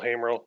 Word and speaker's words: Hamerl: That's me, Will Hamerl. It's like hey to a guy named Merle, 2 syllables.